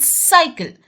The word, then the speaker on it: cycle: CYCLE इज साइकिल, क्योंकि सी के बाद वाई आया है।